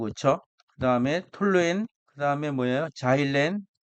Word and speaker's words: 자일렌: 자일렌 자일렌이 우리는 옛날에는 크실렌이라고 했습니다. 일본식 발음이 크실렌이고 영어 발음이 자이렌입니다.